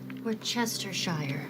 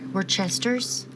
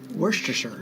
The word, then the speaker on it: Worcestershire: Worcestershire. Worcesters? Worcestershire. Worcestershire. Worcestershire. Worcestershire. You're right. I mean, it's spelled Very so hard to say.